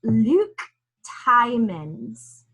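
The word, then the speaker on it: Luc Tuymans: this is gold so it's luke tymons okay like t-i-e men's and and it looks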